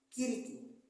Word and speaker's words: Cirice: Cirice pronuncia-se Kiriki.